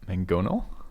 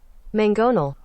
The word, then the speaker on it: mangonel: how to say it mangonel let's find out again mangonel mangonel it's like two g's it's spelled m-a-n-g but it's pronounced m-a-n-g-g again mangonal okay try to keep